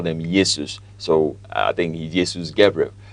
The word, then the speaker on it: Jesus: I think we should pronounce it as Yesus.